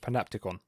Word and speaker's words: panopticon: I can now say the word is pronounced panopticon.